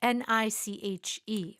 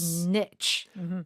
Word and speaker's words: niche: N I C H E or niche.